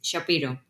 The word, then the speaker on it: Szapiro: Bueno, mi apellido es un poco raro cómo se escribe, pero es Shapiro. La Z suena como si fuera una H. Claro, me gustaría que te sientas cómoda. ¿Quién es Shapiro?